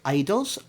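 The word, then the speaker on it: (G)I-DLE: people say gee Idol my understanding is the G is silent Idol has been around since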